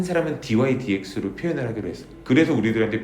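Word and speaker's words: dy/dx: 그래서 이게 통으로 된 기호고 dydx라고 읽어 줍니다.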